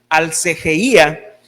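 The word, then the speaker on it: ἀσέλγεια: Hermanos, y esta palabra, libertinaje, viene de una palabra griega que quiere decir, que se pronuncia alcegeía, que quiere decir lascivia, que quiere decir libertinaje sexual, repugnancia o disolución.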